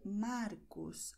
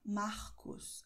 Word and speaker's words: Marcos: Aber in anderen Gebieten wird es eher Markus ausgesprochen. Mit diesem H-Laut. Okay? Das heißt, R vor Konsonant in Mitte des Wortes. In vielen Regionen von Brasilien wird R als H ausgesprochen.